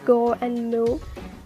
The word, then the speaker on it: Gomu: is because in japanese 5 and 6 can be pronounced as go and moo which is a reference